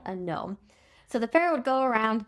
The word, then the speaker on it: nome: And remember those were called gnomes. Um and not spelled like a garden gnome but n o m e because uh remember the whole conflict between Seth or Seth and Osiris his brother.